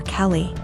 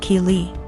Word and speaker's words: Keely: A couple times more and I realized she was calling my daughter Kelly. My daughter's name is Keely, pronounced Keely.